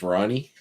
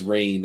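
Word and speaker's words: Rahne: Kitty mispronounces Rain's name as Ronnie. Fairly. That was going to be mine. I thought my hint would make. Whereas Logan pronounced it as Rain, R-A-I-N. It's Rain.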